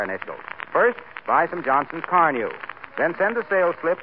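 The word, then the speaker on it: Carnu: Car New is spelled C-A-R-N-U.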